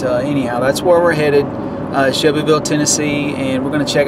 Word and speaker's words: Shelbyville: is actually Shelbyville Tennessee the locals in Shelbyville Tennessee pronounce it like this shovel so it literally sounds like you're saying the work show hole but it's Shelbyville Tennessee and that is